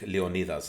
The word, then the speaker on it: Leonidas: I'll say it in Greek. Leonidas. That's how you say it in Greek, right?